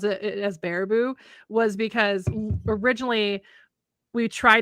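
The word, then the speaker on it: Baraboo: Besides, the other reason I probably knew how to pronounce it as Barabou was because originally we tried to stay at the old Geekhon Hotel.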